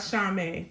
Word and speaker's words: chamois: It is called Chame. That's it, Chame.